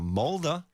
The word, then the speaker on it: Mulder: No, Mulder Mulder. and Scully. Yeah, I didn't speak English when Mulder y Scully. this was the thing. So Mulder and Scully. Mulder.